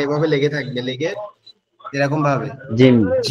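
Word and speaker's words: جيم: উচ্চারণ করবেন ইনশ্লাহ এর পরের আমরা জিম জিম জিম জিমটা কিভাবে উচ্চারণ হবে জিমটা উচ্চারণ হবে হচ্ছে আমাদের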